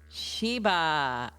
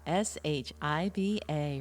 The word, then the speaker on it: Shiba: Shiba, Shiba, rhymes with Shiva.